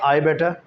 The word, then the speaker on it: I'd better: भी इस्तेमाल नहीं करते हम कहते हैं आई बेटर, यानी कि आई के साथ हेड लगाते ही नहीं हम बिल्कुल भी, प्रोनाउंस करते वक्त, बोलते वक्त। While we speak we don't put head और apostrophe डी, we just say आई बेटर, यू बेटर, यही कहते हैं ना।